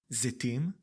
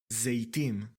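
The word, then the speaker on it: זיתים: With the sound of ‘e’: zetim zetim And with the sound of ‘ey’: zeytim zeytim You can hear the difference. Again, I am not going to tell you which is better or more common. It is a matter of accent and personal preferences. Technically, the ‘e’ pronunciation is correct, not ‘ey’.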